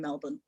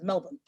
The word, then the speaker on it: Melbourne: Melbourne, but virtually in Melbourne, being schooled by the inhabitants on how they pronounce the name of their city, which is Melbourne, not Melbourne.